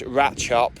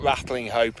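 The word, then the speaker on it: Ratlinghope: But I got schooled on that it's Rat Chop, not Rattling Hope, and this is Sheinton, not Shenton.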